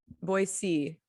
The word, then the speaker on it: Boise: so just to clarify boise i think is how it's actually pronounced there's no actual z um but it's not